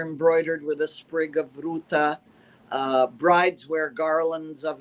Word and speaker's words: Ruta: beautifully I must say Ruta with a t um Ruta translated into